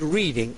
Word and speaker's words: Reading: going straight to North Reading, Massachusetts, to Dan. Hi Dan, how are you? Good, how you doing? I'm going to have to tell my engineer that it's not R-E-D-D-I-N-G. It's like reading, R-E-A-D, right?